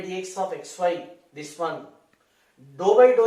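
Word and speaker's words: ∂: There is a vital difference between d and dou. It is pronounced as dou.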